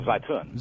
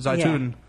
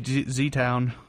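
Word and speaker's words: Zeitoun: Oh, Zaytun. Zaytun. Yeah, in the Egypt. Z place. Yeah, I was going to say Z Town because I don't.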